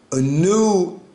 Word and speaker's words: Anu: yes sir I'm a new is how you sound it in the modern Hebrew because I don't know how to pronounce it in that ancient biblical but the most high